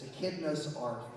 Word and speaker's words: Echidna's Arf: It's also a name of a song that people usually can't pronounce. It's Akidna's Ark. And Akidna is an actual creature from Australia, in case you don't know.